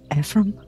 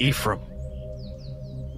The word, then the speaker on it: Ephraim: he places the cup your name's Ephraim no it's pronounced Ephraim who who is who